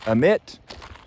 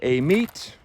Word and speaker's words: Amite: it differently down here some people say omit some people say a meet some people say like i do aim it and it's just three